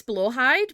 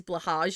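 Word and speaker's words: Blåhaj: I think it's Blowhide, but I could be wrong. Hey, Blowhide. Yeah, there is a way to pronounce it, but the way that people typically pronounce it is Blahage, and that's wrong.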